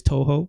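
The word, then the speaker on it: Touhou: It is Toho.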